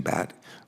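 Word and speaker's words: Bhatt: we'll now hear from our witness Shaylin Shaylin pronounces his name bat but a lot of us in Delaware pronounce it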